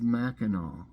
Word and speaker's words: Mackinac: the Straits of Mackinac it's spelled m-a-c-k-i-n-a-c Straits of Mackinaw okay Michigan Nebraska Maine